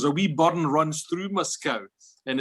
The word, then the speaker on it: Moscow: And they always visited a place, there's a tiny hamlet near Galston where I come from, which is pronounced locally Moscow, but it's spelled M-O-S-C-O-W.